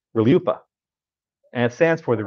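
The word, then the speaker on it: RLUIPA: u i p a r-l-u-i-p-a pronounced reliuppa I swear that's us pronounced reliuppa and it stands for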